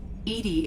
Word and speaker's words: EDI: behind the medical bay why are you named edie edie is the phonetic pronunciation of e that is an acronym for